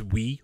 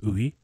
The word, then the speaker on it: Oui: Oui. People think it's we, like W-E. Suck my blur. But it's not. It's oui. It's almost two syllables. They're just kind of mixed together.